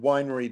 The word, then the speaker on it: weinre: another debugging uh possibility is this really cool winery debugger i'm not quite sure how you pronounce it w-e-i-n-r-e i call it winery uh